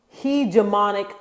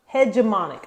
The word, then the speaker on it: hegemonic: it right hegemonic hegemonic no it's hedge it has such the h hegemonic I think it's hegemonic hegemonic he demonic but yeah